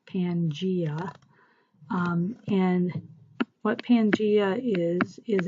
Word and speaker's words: Pangaea: this before but it's called Pangea this is pronounced Pangaea and what Pangaea is is a large supercontinent